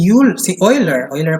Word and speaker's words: Euler: And then, si Euler pala pagkaka-pronounce ito, Leonhard Euler, he developed the theory of buckling of columns.